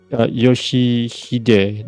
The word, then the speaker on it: Yoshihide: 아니, 그 글자는 그렇게 읽는 게 아니라 No, that is not how you read those letters. 요시대라고 읽는 거다. Yoshihide, that is how you see it.